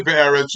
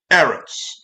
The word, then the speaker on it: ארץ: The first eretz that I say is be'eretz, but you don't say be'eretz, you say just eretz.